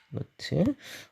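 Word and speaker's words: naught: H에다가 노트를 달아줍니다. 노트라고 읽고요. 노트.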